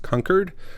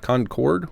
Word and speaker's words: Concord: town turns out that it is pronounced conquered not Concord which I always thought it was and uh conquered as